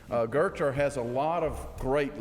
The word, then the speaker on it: Goethe: Pronounce Goethe. Goethe. Goethe has a lot of great leadership quotes, and mine is so Scottish it hurts.